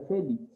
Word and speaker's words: Félix: lleva una penúltima sílaba al igual que félix félix se está terminando en x de acuerdo y porque él ha puesto tilde porque la mayor fuerza de voz la lleva en fe tú no dices félix